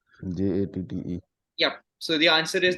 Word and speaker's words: Jatte: Jatte. Yep. So the answer is the Grand Jote. Okay, that's the pronunciation, is it?